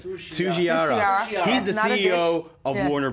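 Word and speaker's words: Tsujihara: Tsuchiara.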